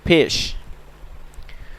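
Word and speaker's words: پیش: ठीक है, ये देखें, पेश को कैसे हम अदा करेंगे? होंठों को गोल करके अदा करेंगे। Bye rounding our lips will pronounce पेश, हम पेश को, होंठों को गोल करके अदा करेंगे।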